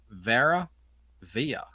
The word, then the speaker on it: Vera Via: Oh, Billy says, ask Joe, what is the meaning of Vera Via? Vera Via? How do you pronounce that? It's Veravia. Yeah, it's Latin.